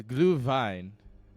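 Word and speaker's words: Glühwein: a great day no it's glue Vine is how I was told to pronounce it fine that's how I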